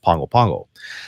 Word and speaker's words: Pago Pago: capital city which is Pongo Pongo by the way it's spelled Pago Pago but in Samoan it's pronounced Pongo Pongo so we've been there